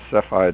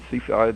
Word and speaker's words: Cepheid: or four of those cephide variables Seaside variables you know how to pronounce that yeah I think it's I think it's cepheid taffyed okay um anyhow uh he